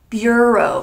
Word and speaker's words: bureau: they're pronounced very differently so make sure you pronounce them correctly let's get started the first word is the word Bureau Bureau in English the word Bureau could mean two